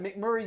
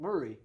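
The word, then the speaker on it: McMurry: Like And then you got McMurray University. They don't call it McMurray.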